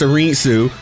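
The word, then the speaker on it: Arinsu: Ball Da and uh Dr. Arensu or Arensu, however they pronounced it. I think it's Arensu. That's how they pronounced it in the dub.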